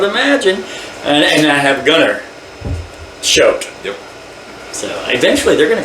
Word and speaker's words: Choate: I got Bill okay it's ch used to be SH now you guys pronounce it show sh okay so it's